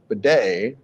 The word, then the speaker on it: Badie: uh yes it is so here is Tyler Beday on his proper pronunciation although we know what the first question